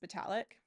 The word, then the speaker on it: Vitalik: And I mean, even like Vitalik Buterin, I think it's actually pronounced Vitalik.